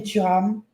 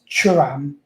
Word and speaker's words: Thuram: First of all, it's Kefrin Thuram, and it's Manu Kone. That's how you say it. And Benjamin Pavard. That's how you say their names. Not Thuram.